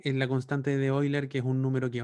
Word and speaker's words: Euler: Se escribe Euler, se pronuncia Euler. Este tipo era alemán.